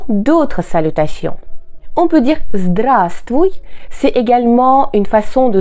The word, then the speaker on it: здравствуй: Pensez ici que le premier V ne se prononce pas.